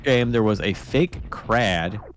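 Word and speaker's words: Kraid: With $10 says, in the first game, there was a fake crad. Crade? Crade. That's how you say it.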